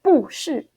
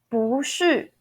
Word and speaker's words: 不是: When the word after the 不 character, okay, the word after the 不 character is fourth tone, we don't pronounce our 不 as a fourth tone as it is shown. You actually need to pronounce it second tone. So it will be 不是 second, fourth.